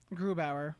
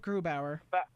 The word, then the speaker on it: Grubauer: I think our backup, I can't ever really pronounce his name. What's his name? Varlamov? Grubauer. No, not Varley. Philip Grubauer.